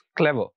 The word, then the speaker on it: clever: पढ़ चुके हैं कि वो तमाम एडजेक्टिव्स जो कि 2 सिलेबल्स पर मुश्तमिल होते हैं उनमें जो स्ट्रेस होता है वो फर्स्ट सिलेबल पर आता है, तो it will be pronounced like this, क्लेवर, क्लेवर, नॉट क्लेवर, it will be क्लेवर।